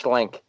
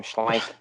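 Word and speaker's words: Schlenk: think he's great travis schlink i think that's how you say his name schlank s-c-h e-n-k um yeah absolutely um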